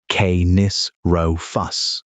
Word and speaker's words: Canis rufus: About 30% of the genome of the Galveston animals traced back to red wolves, Canis rufus, pronounced kay-nis row-fuss.